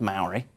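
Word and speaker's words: mauri: of um again pronounced Maori with a shorter vowel sounds it's spelled m-a-u-r-i it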